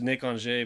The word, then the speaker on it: Nick Anger: This guy's name's Nick Ange, but it's spelled Nick Anger.